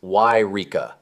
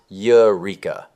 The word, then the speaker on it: Yreka: A quick note before we begin, it's Yreka, not Eureka.